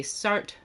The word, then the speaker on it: Sartre: Some people say Sartre, I believe is closest.